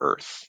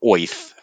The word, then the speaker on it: Oerth: And then the world of Greyhawk, the is called Oerth or Earth or Oith, depending on how you want to pronounce it.